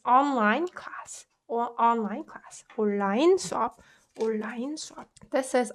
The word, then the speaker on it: 온라인: And strangely, in English, it's easy to pronounce un and l together, online, online. But us Koreans don't really find it that easy to say online. It's just so uncomfortable on our tongue. So we can say, so you can pronounce it like this.